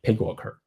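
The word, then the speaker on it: PyGWalker: the Pig worker so Pig worker is actually called the P python binding of graphic worker which you maybe you should call is p worker but you can pronounce y as I so called worker which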